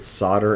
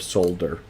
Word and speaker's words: solder: every time i said solder instead of solder he would say there's an l why don't you pronounce it so i'd say there's